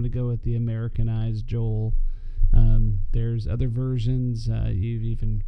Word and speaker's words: Joel: So before we start the Book of Joel, there's different ways to pronounce Joel. I'm going to go with the Americanized Joel. There's other versions. You've even probably heard people say Joel.